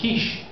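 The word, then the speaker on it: quiche: looks up he goes I have a quickie she goes no Mr President that's pronounced Kish could you make little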